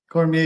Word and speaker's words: Cormier: I don't have a good pronunciation, but I can try. Cormier. Right. Cormier, yeah, that's pretty good.